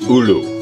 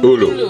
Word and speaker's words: ulu: It's pronounced ulu. Ulu? Ulu. Ulu, okay.